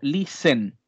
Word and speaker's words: listen: music muy bien y recuerden aquí importante también el tema de la pronunciación de la palabra escuchar que debo eliminar la tf que está ahí entremedio debo eliminar está estate como tal al momento de pronunciar quedará solamente como listen listen to music youtube bien ahora la